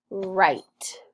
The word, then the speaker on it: write: Number 3, write. This is, I'm going to write a story. WR has that R sound. Ite. And then a silent E at the end.